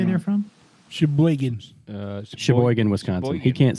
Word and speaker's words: Sheboygan: Sheboygan. Sheboygan, Wisconsin. He can't say it right. I do say it right. That is the right way. It is the right way. Sheboygan.